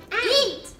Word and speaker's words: y: it is the word eat. A-N-D, like, and this, and that. Now, the way you say that in Spanish is E. E. And it's just, you just spell it with one Y.